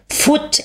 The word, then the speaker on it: foot: Ja, aber man spricht Foot aus. Genau. Im Englischen sind zwei O's ein U.